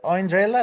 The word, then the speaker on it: Andrea: Is it Andrea like Cinderella? Yeah, that's correct.